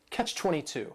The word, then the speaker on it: catch-22: This is 2 words. It's a compound noun. The word catch is just 1 syllable, and then 22 is 3 syllables, and the stress is on that final syllable. Catch-22.